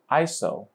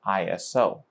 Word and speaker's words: ISO: International Organization for Standardization, which is actually pronounced ISO rather than ISO.